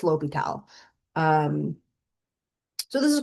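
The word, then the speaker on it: L'Hôpital: So that is pronounced Li Tall's rule.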